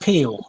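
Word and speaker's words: Pihl: p i h l that's the surname it's pronounced peel Gary Peele American rock musician guitarist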